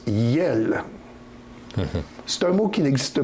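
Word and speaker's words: iels: Et ça se prononce yel.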